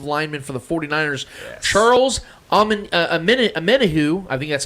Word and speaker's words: Omenihu: The Chiefs signed the former defensive lineman for the 49ers, Charles Omenihu, I think that's how you say his name. Yep. Yeah, Omenihu, to a 2-year, $20 million max deal with $7.2 million signing bonus, along with $8.6 million guaranteed.